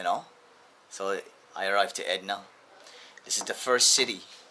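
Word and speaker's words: Edirne: it's written Edrine, but they pronounce it here like Edna, you know. So I arrived to Edna.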